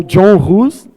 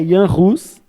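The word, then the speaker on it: Jan Hus: E aí ficou meio que João Rose ou John Rose, mas a pronúncia correta ali é yan Rus.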